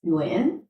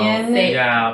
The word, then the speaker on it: Nguyen: Like in the proper Vietnamese Yeah. way, it's Nguyen. And then how did it become the way that like People you know Nguyen.